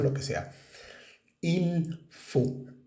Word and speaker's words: il faut: pronunciación lo que sea IL Fu F a u t se dice IL Fu la t al final no se pronuncia normalmente en francés IL Fu y la